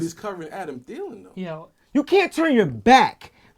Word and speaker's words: Thielen: Even I don't care if But it's he's covering Adam Thielen though.